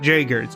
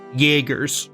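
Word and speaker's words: Jaeger: It's not Jaggers. It's Jagger. It's a German name.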